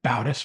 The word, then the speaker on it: Bautis: So, I didn't get your last name's Bautis. Am I pronouncing that correctly? It's Bautis, but close enough. Bautis.